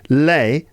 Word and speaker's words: les: a linking sound between les, right, les, because you end with a vowel sound because the S is not pronounced, right? It's not les or les, it's le.